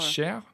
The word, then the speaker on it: cher: dear yeah okay so can you just write share yes yeah also c h e r or